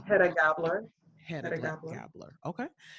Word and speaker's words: Hedda Gabler: In her theater, It's Hedda Gabler.